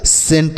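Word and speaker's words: scent: एन टी सेंट पढ़ेंगे और एस सी ई एन टी इसे भी हम बच्चों सेंट ही पढ़ेंगे क्या पढ़ेंगे सेंट दोनों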